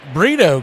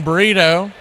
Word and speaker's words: Brito: It's spelled B R I T O. But when you say it fairly quickly, it sounds like the food burrito.